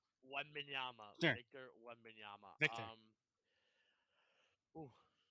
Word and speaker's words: Wembanyama: Wembanyama, Sure.